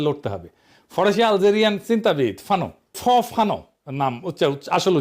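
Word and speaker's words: Fanon: ফরাসি আলজেরিয়ান চিন্তাবিদ ফানো নাম আসল উচ্চারণটা, উনি বলছিলেন পরাধীন জাতিগোষ্ঠী লড়াইয়ের ভিতর দিয়ে নিজেকে চিনতে শেখে।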